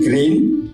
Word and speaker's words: grain: Lalu seed, ya, fiber, biji-bijian grain. Bacanya grain atau green ya? Grain, green, bukan green ya.